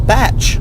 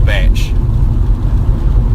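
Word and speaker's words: bach: A batch.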